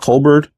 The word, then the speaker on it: Colbor: So, today we are checking out I believe it's pronounced Colbert.